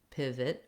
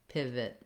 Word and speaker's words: pivot: And then letter O says a schwa or an I sound in pivot, vit. You can hear how it has a reduced vowel. So there's no O sound, there's no length on that syllable.